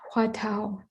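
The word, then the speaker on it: Hua Tou: in korean called the and in chinese pronounced hua tao in chinese chan uh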